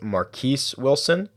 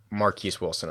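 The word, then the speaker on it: Marquess Wilson: And the other guy is, I believe his name is pronounced Marquise Wilson, and he is the very talented wide receiver who will be starting in place of Brandon Marshall today.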